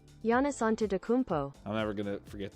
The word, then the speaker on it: Giannis Antetokounmpo: I don't even know how to pronounce this guy's name. Giannis Antetokounmpo. Giannis. See? We were both wrong. Giannis Antetokounmpo.